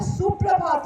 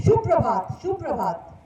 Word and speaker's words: शुभ प्रभात: शुभ प्रभात. ना वो सु रहता है, बड़े अजीब ही हो जाता है. सो ठीक से थोड़ा सा प्रोनाउंस करें.